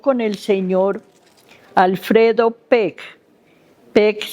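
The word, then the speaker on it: Beck: Peck, aunque se pronuncia con P, es B-E-C-K.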